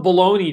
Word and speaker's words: bologna: and i told you that saturday was national baloney day they spell it weird right there it's spelled bologna that's